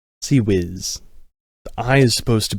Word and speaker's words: CIWS: A god-awful acronym that's not even pronounced in the order that it's spelled.